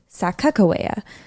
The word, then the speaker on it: Sacagawea: we'll talk about that some of you might know her as Sacagawea or maybe even Sakakawea there are several different pronunciations but I will also